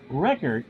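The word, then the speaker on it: Richert: Rickert, although it's spelt Richard, has a save and is 0-1.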